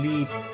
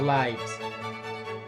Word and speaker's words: lives: Lo pronuncian lives y no lives.